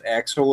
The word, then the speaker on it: Axel: say, hey, this is Axel or this is Jim, and have you tell us a little bit about yourself. That works. Very good. And I'm saying it right, Axel, like Axl Rose, right?